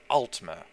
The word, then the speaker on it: Aldmer: saying the names well let's start with the pronunciations the ancient elves or the Ultima spelled al d m ER and the high